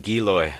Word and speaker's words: Giloy: You know, but we know the silver water has attacked it, and now you're telling me this, how you pronounce this again? Giloy. Giloid.